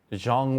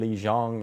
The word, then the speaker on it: Zhang: vers versus Yan um Jang wh which is how you say it Chinese people say it and then Yan Jan or westerners will say way Jang and xan what why